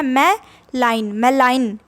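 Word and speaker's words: malign: भी बोल सकते हो और इसको भी दो प्रोनाउंसिएशन है, तो एक मैंने लिख दिया मैं लाइन, आप बोलिए इसको मैं लाइन।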